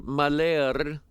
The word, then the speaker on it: Mahler: And so anyway, the day before that, Sister Mahler, is how her name is pronounced.